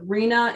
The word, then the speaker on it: RHNA: 98 there are multiple misinterpretations of Reena it's spelled r na instead of rhna so um if that